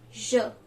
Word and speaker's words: je: So that we call in French as I in French is je.